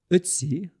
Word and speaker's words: Ötzi: Ötzi, and that's an attempt at a German pronunciation of an O with an umlaut.